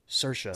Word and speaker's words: Saoirse: film, is played by Saoirse Ronan. Get that pronunciation right. Saoirse. So it is rhymes with Saoirse. inertia. Ryan Gosling taught me that. It rhymes with inertia.